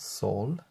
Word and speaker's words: Sol: Then we have Mother Earth, the sun, or here it's pronounced Sol.